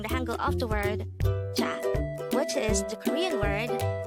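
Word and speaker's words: 차: term for car is cha again it's cha this is pronounced as one syllable word pronounce it with me cha cha how do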